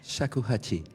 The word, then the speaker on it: Shakuhachi: Je vous laisse le prononcer parce que... Shakuhachi.